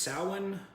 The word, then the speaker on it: Samhain: Halloween falls on the Celtic holiday of, it's pronounced Samhain, but Samhain.